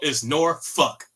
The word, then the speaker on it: Norfolk: It's Norfolk. That's how people said it here. It's Norfolk.